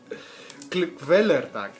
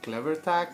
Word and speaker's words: Kvelertak: I always mispronounce them. Kvelertak, yes. I always call them Clevertack, and you know, it sounds like a product, like, you know, blue tack but clever one, like smartphones.